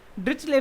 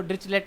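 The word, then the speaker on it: Dirichlet: चलिए, so what we are going to start is डिरिचले function. कई लोग इसको डिरिचलेट भी बोलते हैं, बट हाउ you want to pronounce. Usually इसको डिरिचले फंक्शंस बोला जाता है।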